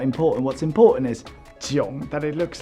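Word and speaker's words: 囧: It's pronounced Jiang, but that's not important. What's important is Jiang, that it looks like this.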